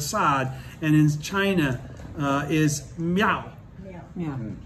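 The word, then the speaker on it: 妙: and in China is Miao. Yeah. Meow, like kitty almost. Yeah. Meow. Meow.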